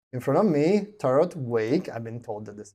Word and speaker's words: Wake: In front of me, Tarot Wake. I've been told that this is the correct pronunciation for the last name.